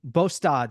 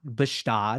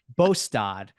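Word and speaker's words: Båstad: It is not Bastad, if anybody pronounces it like that. It's that is Gstaad. Well, Switzerland. Exactly. But a lot of people say, oh, it's Gstaad and Bastad. And it's like, no, it's actually Bostad, which is not how I wouldn't think it is pronounced that way. But it actually is.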